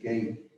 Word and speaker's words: Gath: last year they've actually found a iron age gate that david probably would that's kind of interesting is they've been excavating a long time in in gath gat is uh how you pronounce that uh